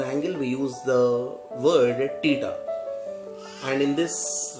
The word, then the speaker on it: theta: So we pronounce this one as a theta, T-E-T-A, theta.